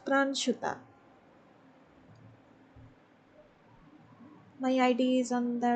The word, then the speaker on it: Pranshuta: YouTube channel you can you can pronounce that uh it's pran shooter my ID is on